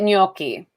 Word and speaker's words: gnocchi: You say it gnocchi. Gnocchi. Gnocchi. Because What the was GN in Italian is like gna.